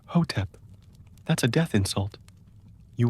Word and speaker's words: Hotep: You pronounce it slowly, clearly. Hotep, not heep.